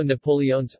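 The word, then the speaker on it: napoleones: of about a quarter there is also Napoleon's again with all the vowels pronounced a milfoil pastry stuffed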